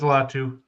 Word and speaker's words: Latu: yes, it is Latu. I was trying to pronounce his first name, but I think they'll go Latu edge.